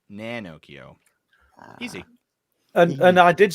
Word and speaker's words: Nanocchio: Think of Pinocchio, but with an N. So instead of Pinocchio, it's Nanocchio.